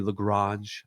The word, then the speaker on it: LaGrange: Carlos LaGrange. I think that's how I pronounce it. Could be Lagrange. I think it's LaGrange, though. That's how I've heard it said.